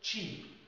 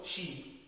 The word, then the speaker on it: cheap: كلمة cheap، cheap لو انت قلت sheep معناها خروف.